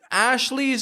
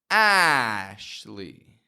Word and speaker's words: Ashley: But no matter what the spelling is, the pronunciation is always the same. Listen closely, and you tell me which vowel is clear. Ashley. Ashley. Ashley. The A is clear.